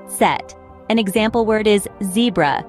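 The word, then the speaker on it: Zett: Finally, we have Z, pronounced Set.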